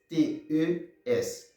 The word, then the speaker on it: Eclesiastes: TE, ça prononce et tis, tá bom? Songez TE em português, se prononce comme ça, tá bom? Ti, tá? TES não, ele prononce comme ça, tis, tá bom? Fait comme si EA c'était un I, tá bom?